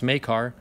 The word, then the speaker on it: Makar: how to pronounce it I didn't say maker it's Makar Jimmy make our kin butchered